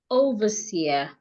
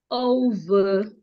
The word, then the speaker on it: overseer: We can also have the word overseer. Overseer. Overseer. So the E and R here makes the schwa sound.